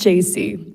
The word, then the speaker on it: Jesse: It's pronounced JC, but it's spelled a little bit wonky, so completely understandable mistake.